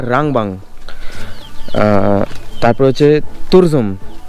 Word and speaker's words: Turzum: মতো রাস্তা যেটা এই তারজুম না অ্যাকচুয়াল অ্যাকচুয়াল প্রোনাউন্সিয়েশনটা হচ্ছে তুরজুম মানে এখানে এসে সেটা জানতে পারলাম তো তুরজুম বা তারজুম এরকম সামথিং কেউ তুরজুম বলছে কেউ তারজুম বলছে তো